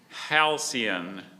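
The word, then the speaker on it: halcyon: Parquet is spelled P A R Q U E T. Hian.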